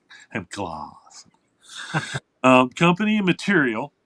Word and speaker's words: Hemp Glass: Um, so there is a it's a company called Hemp Glass, G Lass, and it's pronounced gloss. Hemp gloss.